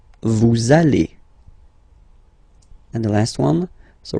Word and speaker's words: vous allez: Same thing here. We'll have this little link between the two. Vous allez. Vous allez.